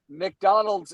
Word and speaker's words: McDonald's: McDonald's is two syllables. My granddaddy makes it three.